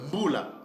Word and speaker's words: Mbula: vous avez vu que le mot par exemple Mbula, Mbula qui s'écrit M-B-U-L-A avec la lettre L, Mbula en Lingala, mais en Shona du Zimbabwe ils disent Mbura.